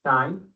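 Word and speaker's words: sinh: First of hyperbolic sign we write as sin h you would pronounce it as shine and it's defined to be shiny x is equal to e xus eus x all over 2.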